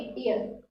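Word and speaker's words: heir: तो ये बहुत इंपॉर्टेंट वर्ड है, इसको बहुत सारे स्टूडेंट को लगता है कि ये हेयर वर्ड है, जबकि हेयर और ये वाली स्पेलिंग में बहुत ही डिफरेंस है, ध्यान रखें। ये हेयर है और ये एयर है। यहाँ पर आपका एच साइलेंट होता है, यहाँ से आप पढ़ोगे एयर।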